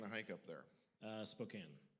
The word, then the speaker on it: Spokane: hike up there uh spokane spokane yeah the e is silent uh menache wenatchee wenatchee yeah